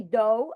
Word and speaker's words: do: I do not say do, I say do.